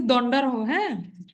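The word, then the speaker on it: দণ্ডার্হ: সেটাই হল দন্ডারহ নরহত্যা উচ্চারণটা কিন্তু দন্ডারহ্যা তাহলে দন্ডার নরহত্যা আর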